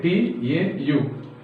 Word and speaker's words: tau: Okay, T-A-U. Tau. How to spell it is T-A-U, tau.